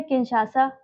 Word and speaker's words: Kinshasa: DRC की capital है किंशासा, किंशासा, सा है कि शाह है, किंशासा ही है, KINSHASA, किंशासा, और कॉन्गो है ब्राज़ाविले।